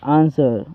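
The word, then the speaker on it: answer: आंसर आंसर्ड आंसर्ड दोस्तों यहां पे भी देखो एस के बाद डब्ल्यू है तो यहां पे डब्ल्यू साइलेंट है याद रखना चलिए अगला देखते हैं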